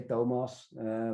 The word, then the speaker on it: Thomas: whatever you prefer and in dutch we say domos but thomas is fine um the last name